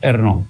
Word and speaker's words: Ernaux: se escribe Annie Ernaux, que se pronuncia como, según los franceses, como debe ser, Ernaux.